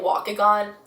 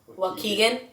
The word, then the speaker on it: Waukegan: 3rd in Chicago in I was pronouncing it walk again I think it's Waukegan Waukegan Illinois like close to Chicago